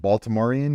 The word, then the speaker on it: Baltimorean: So I'll I'll friend you on Facebook, but I think you, as being a native, is it Baltimorean? Is that how you say it? You got it.